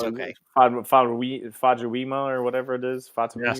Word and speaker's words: Famuyiwa: Famuyiwa or whatever it is. Yes, Famuyiwa.